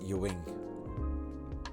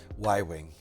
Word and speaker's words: Y-wing: I pronounced it Yu-wing. What a dork. Y-wing.